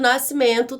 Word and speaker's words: nascimento: fonemas porque não se pronuncia o s antes do cdo nascimento parece que tem só você e o e seguido de n no em uma nascimento tem apenas um som também portanto nascimento 10 letras e oito fonemas e os sons linguísticos